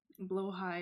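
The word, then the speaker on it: Blåhaj: Blow high is how you say it.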